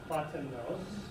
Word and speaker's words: Plotinus: Plotinus, the Greek is, there's the Greek, and it's pronounced Platonos, 205 CE to 270 CE, and Porphyry, okay?